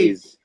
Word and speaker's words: A'z: on prononce genre Aze, comme en anglais, genre Aze. Ace.